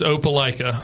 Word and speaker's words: Opelika: You got to help me pronounce the name of the town in Alabama that you're from. All right, it's Opelika.